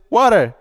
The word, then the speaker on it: water: they see this word they don't see a t they see a d and they pronounce it water the power of influence